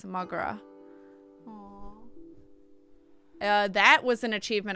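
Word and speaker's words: mo ghrá: Irish for my love. One dialect pronounced is Mogra.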